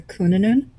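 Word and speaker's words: Cŵn Annwn: It's the word is Welsh, so it's really hard to pronounce. It's a Kunanun.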